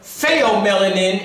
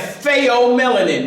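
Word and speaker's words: pheomelanin: What you saying is fo spell that ph. So they o say you trying to bug yourself in some way. P H E O I think it is.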